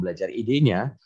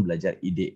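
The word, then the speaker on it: belajar.id: Nah, silakan Bapak Ibu dengan akun belajar idenya, bukan belajar ide ya, bacanya gitu ya, akun belajar ide gitu ya.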